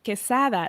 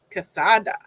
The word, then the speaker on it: Quesada: And then my first last name is pronounced Quesada, like quesadilla. Quesada.